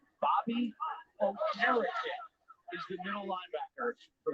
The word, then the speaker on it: Okereke: broadcast during the preseason, he pronounced it Okereke. And the PR staff said, wait a minute, it's been Okereke the 2 years. He goes, nah, you guys have been saying it wrong my first 2 years.